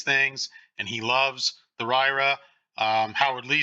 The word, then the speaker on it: RYRA: we have the and I pronounce this ryra but it's rock your repaired amp r-y-r-a these are supposed to be excellent